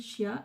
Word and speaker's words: chia: C'est 500 grammes de graines de, alors ça se prononce apparemment Kia, mais moi je dis Chia, et de sésame.